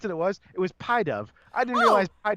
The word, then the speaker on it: Pidove: I don't like the pronunciation of pie dove. because you think pit of. It's pidove.